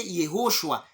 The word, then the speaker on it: Yehoshua: Jésus, c'est le rendu dans nos langues parce que les Grecs ne pouvaient pas prononcer Yehoshua. Ils ont prononcé dans leur langue Yissos. Et quand les Romains ont récupéré des Grecs, c'est devenu... Ils ont prononcé Jésus.